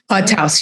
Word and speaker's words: Taos: Taos, yeah.